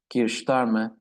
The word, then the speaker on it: Keir Starmer: And now, as Ozan Hocam mentioned, we have the Keir Starmer, that's how the British pronounce it mostly, government.